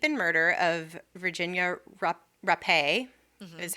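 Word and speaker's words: Rappe: about the rape and murder of Virginia RUP RUP a is how you say her name I made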